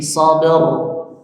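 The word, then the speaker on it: صبر: Nah, bukan sabah rnya kurang rnya tetap tebal seperti dua ayat sebelumnya ya. Bukan sabr tapi sabr. Sabr.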